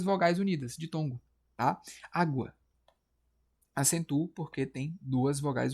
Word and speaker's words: água: Vou botar aqui água, cara. Água separa sim a sílaba tônica. Aqui o tó, né? Aqui o da água vai ser o a. É uma paroxítona, tá?